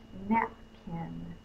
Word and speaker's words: napkin: Let's do the next word, napkin. I'm in Louisiana. A lot of times we don't say the P in napkin. But that is how it's spelled. That's how it should be pronounced.